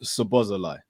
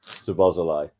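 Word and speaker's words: Szoboszlai: I've been told it's pronounced Sobozalai. Sobozalai.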